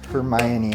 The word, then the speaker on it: Hermione: I think it was once the movies came out I knew how to pronounce it. Hermione has a much better ring to it.